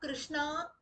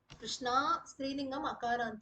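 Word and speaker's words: कृष्ण: why Rama becomes Rama Krishna becomes Krishna goind becomes goind meaning changes completely you call out Krishna dropadi should come running not Lord Krishna kishna it should be there is no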